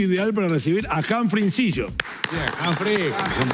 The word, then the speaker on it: Inzillo: Momento ideal para recibir a Humphrey Incillo. Bien, Humphrey. ¿Pronuncié bien el apellido? Sí, perfecto. Incillo, Incillo en italiano, Incillo en porteño.